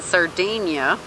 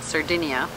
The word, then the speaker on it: Sardinia: surfing I did that in the third Dania that's how they pronounce it but us foreigners pronounce it Sardinia a big island off the coast of Italy hello Corsica a couch